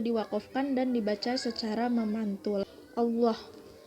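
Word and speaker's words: الله: Allah Lafaz Allah didahului dengan huruf berharokat fathah, dibacanya secara tebal. Itu hukumnya tafkhim.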